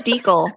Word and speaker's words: Deal: It's Deal, right? It It is a long e. Yeah, it's German.